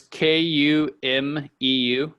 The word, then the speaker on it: Kumeu: Okay, so spell that for me, Pete. Lake what? So it's Kumeu.